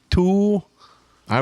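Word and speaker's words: Thule: It's tuli. T h u l e. Tuli. The tul. Th tuli. Tul. I worked in bike shops.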